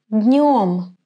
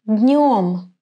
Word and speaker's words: днём: Pay attention to the pronunciation of the word днем. Днем. I touch my hard palate with the middle part of the tongue, днем, and direct the air to my nose to produce a nasal sound н.